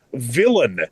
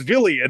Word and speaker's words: villain: It is the town's villain, not the town's villian that I was pronouncing it before.